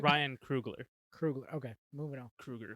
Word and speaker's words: Coogler: Ryan Coogler quickly became one Am of I my saying his favorite. last name wrong? I probably am. It's Ryan Krugler.